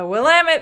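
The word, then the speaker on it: Willamette: Katherine joining from the Wamit Valley, Oregon. We got fan mail saying, "Thank you for pronouncing that right. Will it dam like it?" Damn it. That's how you can remember.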